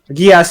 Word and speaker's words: geas: Gias is spelled Geas.